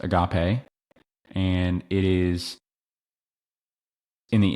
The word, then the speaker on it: agape: It's pronounced agape and it is in the NASB.